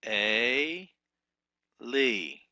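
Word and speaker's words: אֵלִי: And then we have Eli, number 18. The Sarai is A. Lee. A. Lee. And we translate as Eli.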